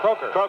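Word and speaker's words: Krakau: That's Merv Kalkow. How do you say that? Croker.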